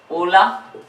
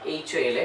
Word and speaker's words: hola: Olaf is wave Okay so hola is silent h is silent next Kota like cup